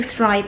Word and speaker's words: thrive: 那么我们先可以念成 rive, rive，然后再把这个 th 加进来，就是 thrive, thrive, thrive。